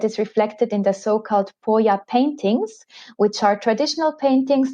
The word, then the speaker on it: poya: the alpine huts and this is called the poya it's spelled p-o-y-a and it really is the event